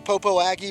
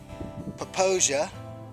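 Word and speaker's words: Popo Agie: i crossed over the what looks like the popo aggie river but it's actually pronounced poposia and i also just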